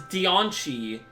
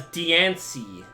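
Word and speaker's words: Diancie: has always been pronounced deoni apparently the correct pronunciation is deoni when all my life I've known it as Deany like I I think the advertising for the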